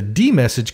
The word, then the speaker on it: dmesg: first way is to use the D message command which dumps the contents of the kernel ring buffer to the screen by the way that command is spelled DM ESG now since the messages